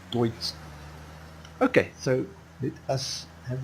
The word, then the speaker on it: Deutz: I actually found out that you don't pronounce it like I've been pronouncing it, guys. I've been calling it a Deutz Fahr, you know. So I believe the correct pronunciation is Deutz Fahr. So sorry guys for all the people who is laughing at me and not helping me. So yes, I found out that you actually pronounce it Deutsch.